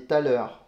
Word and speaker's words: thaler: Donc ils ont appelé ça des thalers. T-H-A-L-E-R. Je pense que ça se prononce comme ça, en français en tout cas.